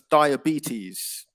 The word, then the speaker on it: diabetes: noticed um was um so it's diabetes it's like a e diabetes okay diabetes oh yeah